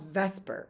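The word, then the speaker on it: VSEPR: special name it's called Vesper and I know it doesn't look like it's pronounced but it stands for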